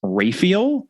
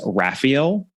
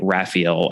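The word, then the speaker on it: Rafiel: raffel's last name as Ral which is how at least one of the adaptations of a Caribbean mystery pronounced it it seems that the predominant pronunciation is Raphael I suppose you could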